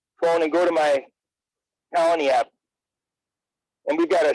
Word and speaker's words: Koloni: First thing you're going to need to do is go to your app store and download the Colony app, and that's spelled Koloni.